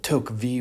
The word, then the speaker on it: Tocqueville: author is Alexis de Tocqueville that took vie would probably move more the French pronunciation he's one of our